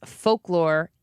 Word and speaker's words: folklore: Ron says, how do you pronounce folklore? You pronounce the L there, don't you? And I don't. I would say it like F-O-K-E.